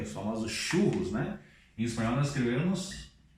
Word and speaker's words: churros: Outra coisa bastante conhecida, que é os famosos churros, né? Em espanhol nós escrevemos assim e pronunciamos chu, já com a R forte, churros, churros, ok?